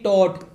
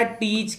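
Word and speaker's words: taught: TAUGST टॉट, बेटा टीच की TEACH, टीच की सेकंड फॉर्म है TAUGST, इसको, इसका प्रोनाउंस टॉट होता है लेकिन कई बच्चे टोच च पढ़ते हैं जो गलत है।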